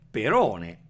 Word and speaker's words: perone: un po come vuole ma se siete dei puristi della lingua dovete dire perone alla greca e non per one però già